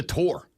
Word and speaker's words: tour: It's a tour. Your favorite band doesn't go on tur.